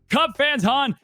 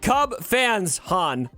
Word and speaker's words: CubsFanHan: You say all the time, you're like, Cub fans, Han. Just one cup. Just one cup. One cup, multiple fans.